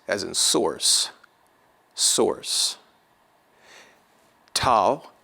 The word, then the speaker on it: tau: Tau will be pronounced like a T in taste, taste.